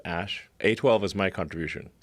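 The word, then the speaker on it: Æ: name X letter X the AE is like pronounced ash a 12 is my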